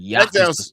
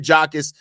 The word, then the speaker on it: Jacas: Is it pronounced it Jakus or Jakis? I can't I can't be Jakus. Jakus. Jakus. Okay, that makes sense. Jakus. Gabe Jakus, the the edge out of Illinois.